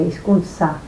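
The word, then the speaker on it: izkuntza: En general se pronuncian todas como con un sonido sibilante, iskunsa.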